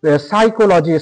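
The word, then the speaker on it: psychology: পি এর সঙ্গে কিন্তু এস দেখলাম যে সাইকোলজি স্পেলিংটা দেখে নাও।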